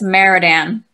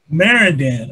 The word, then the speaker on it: Marrondan: it you know so what how do you pronounce your last name uh it's maradan maradan okay and what what nationality is that your